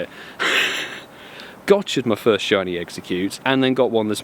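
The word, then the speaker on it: Exeggcute: how you say it gured my first shiny execute and then got one this morning which is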